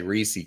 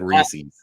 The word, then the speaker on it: Reese's: this the other day biggest pet peeve is when people say reesei cups and reesei pieces I've never said Reese's that that's like nails on the shock board and I've never heard